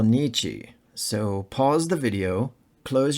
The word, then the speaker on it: Nietzsche: remember that in German when you see the vowels i e you should always pronounce e as in spiel when you see the